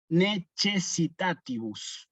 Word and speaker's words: necessitatibus: Primero, necessitatibus, tilde en la antepenúltima sílaba, necessitatibus, y la C con la E la pronunciamos como che. Necessitatibus, nunca necessitatibus.